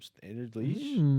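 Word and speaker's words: Standard Liège: Standard Lege, I believe. Yeah. Who's this? They're in Belgium. Standard Leash is how you pronounce it.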